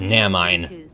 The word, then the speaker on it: Naminé: With a little help from Naminé, it's pronounced Namine.